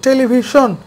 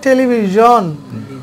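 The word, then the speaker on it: television: একটা colour টেলিভিশন আছে তাহলে আমাদের এই সোন না আমাদের ভুল হচ্ছে প্রথমত সনের দন্ত ঝামেলা যদি একই স্টেপ ঠিক করি তাহলে শোন বলতে হবে টেলিভিশন আচ্ছা এবার ইংরেজি যদি সঠিক করি তাহলে কি হবে টেলিভিশন জোন হবে জোন তারপরে ভার্জন ভার্সন তারপরে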